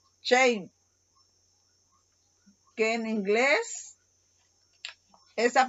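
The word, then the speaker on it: שֵׁם: Y la pronunciación para esa palabra en la lengua hebrea es Shem, que en inglés, esa pronunciación Shem es de una palabra en inglés que significa vergüenza.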